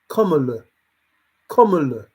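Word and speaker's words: Kamala: I've seen some uh something that says Comm that's how you have to say her name k written it's written down so when these news reporters are ever read it it's written down that you say comm c o m m a l u h what Come On Life's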